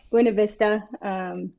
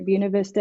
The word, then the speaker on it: Buena Vista: I'm in Buena Vista, pronounced either Buena Vista as locals say it, but Buena Vista in the correct pronouncing.